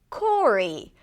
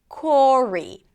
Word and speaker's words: Corey: Then we have the name Corey. Corey is very similar. It rhymes with Rory.